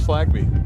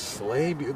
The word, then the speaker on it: Slainte: I thought it was Slagby. Right? Come on, Jason. Don't do me like this. Give me the phonetic spelling. I'll give you $1. $2. Dono finds me amusing. How about that? So just checking in from the other game, MSI is leading Baltimore City, still 1-0, the 51st minute. Here back, Slainte. Oh, it's Slainte. There's no why.